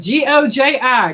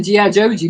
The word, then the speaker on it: goji: It's spelled G O J I go. I would say it's a GI Joji, but it's Goji.